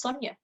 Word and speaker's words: Sonya: you know in one business they got my name wrong for six weeks my name is sonja that's the first sense of identity you have